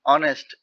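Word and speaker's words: honest: একটা অসৎ মানুষ তাকে অবশ্যই সম্মান করে এখন অনেস্ট অনেস্ট ম্যান এই এম এন বলতে একজনকে বুঝাইছে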